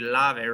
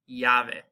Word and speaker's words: llave: So we have words like, this wouldn't be lave, right? It'd be llave. Or we have like calle.